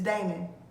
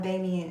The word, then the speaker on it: Damon: like i'm pronouncing damon it's damon not damien it's damon damon wyans